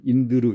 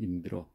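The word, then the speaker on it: इन्द्र: 그런데 그러면 인드르 이렇게 해야 되지 않느냐. 그런데 인드르 하기는 발음하기 불편하죠. 그래서 끝에 자음이 오더라도 그 앞에 반자음이 있으면 그냥 러로 발음하면 됩니다. 어를 삭제하지 않고 어를 발음하면 됩니다. 그래서 여기는 인드르가 아니고 인드러 그냥 편하게 하시면 되고요.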